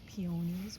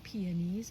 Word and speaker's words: peonies: Here I have some pionies or pees. I've heard them pronounced also.